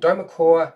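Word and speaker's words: Dweomercore: can get this right it's pretty hard to pronounce derma cure dome Merc or don't call so it's called DOMA core there is an arc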